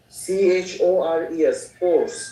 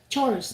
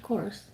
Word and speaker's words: chores: ryan yeah man i asked you uh the pronunciation of household course you spell course or chores chores household chores yeah c-h-o-r-e-s correct chores no not course chores yeah yeah okay so i was a